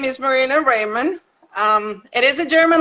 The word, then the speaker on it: Rehrmann: well first of all my name is marina raymond um it is a german last name jay